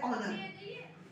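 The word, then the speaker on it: honor: बट एच का sound जहाँ पे साइलेंट हो जाता है, जैसे कि फॉर एग्जाम्पल ऑनर, ऑनर में एच का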